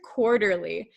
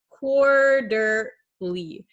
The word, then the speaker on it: quarterly: like an r but in english it sounds like a soft d quarter quarterly quarterly okay